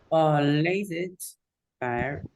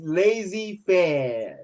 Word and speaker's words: laissez-faire: It's Laissez faire. pronounced as lazy fair. The lazy, not lazy, not L-A-Z-Y, it's lazy fair.